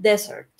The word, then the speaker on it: desert: Y cuando estamos hablando de desierto, cuando es con una sola S, entonces es desert. Entonces ya estamos poniendo nuestro énfasis en la primera sílaba.